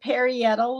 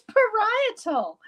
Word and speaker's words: parietal: these words like parietal I said perial lobe it's parietal and I only know that